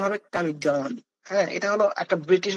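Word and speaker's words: comedone: এইযে এই শব্দটা কামিডন এটা কামিডন উচ্চারণ হবে কামিডন।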